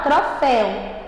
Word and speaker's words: troféu: né então vamos lá troféu ela é oxítona porque olha gente como é que tá a sílaba forte aqui ela tá no céu se ela tá no céu ela é a última se ela é a última ela é o quê gente à tona muito bem saúde tá